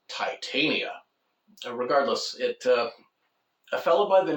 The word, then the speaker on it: Titania: The author insists, in this case, it's pronounced Titania.